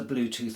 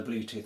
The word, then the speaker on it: Bluetooth: It's literally beca, it came into the language so fast that it got transported across into Polish, uh, written the same and pronounced the same as in English.